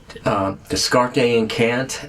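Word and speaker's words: Descartes a Kant: But anyways, Descarte and Kant, as they pronounce it, they're also called DAC, but they're a band from Guadalajara, Mexico.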